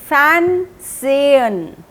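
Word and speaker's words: fernsehen: सेन टू वच टीवी फैन सेन एच को थोड़ा सा साइलेंट रखते हैं फैन जयन नेक्स्ट पिक्चर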